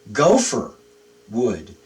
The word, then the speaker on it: gopher: So we're pronouncing the Hebrew word when we say gopher wood.